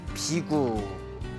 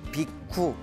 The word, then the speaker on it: 비구: 출가한 제자들을 비구라고 부릅니다 비구 그래서 인도에서는 비쿠라고 합니다 비쿠 그리고 이제 우리 한문 발음으로는 비구라고 이제 부르고 있습니다 비구라는 뜻은 걸식하는 자라는